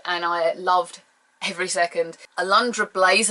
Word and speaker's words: Alundra: Alundra Blaze, and I'm saying it right, Alundra, not Audrana, Alundra Blaze.